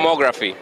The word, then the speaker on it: Lomography: No, actually, we're here at how do you pronounce the name of the company? Lomography. Lomography, okay.